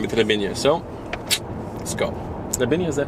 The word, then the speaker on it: Trebinje: Trebinje, is that how you say it?